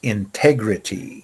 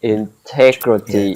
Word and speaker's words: integrity: the other letters and when you have a g and an r together that's a hard sound like great or grit or is it in this case integrity that's a hard sound integrity that's a difficult sound integrity integrity integrity the